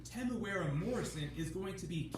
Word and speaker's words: Temuera: Temuera Morrison played Jango Fett, so I like the way it pronounces it. Temuera. Exactly like Temuera Morrison when he grew up. I always said But because Tamora.